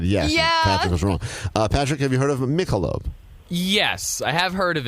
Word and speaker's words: Michelob: where this is from Mika lobe or pronounced Michelob Michelob will he know where